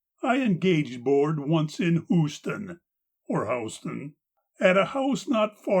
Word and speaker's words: Houston: It was not in this city, of course, for since Charlie Helm was elected marshal, there is no gambling in Houston. Can also be pronounced Houston.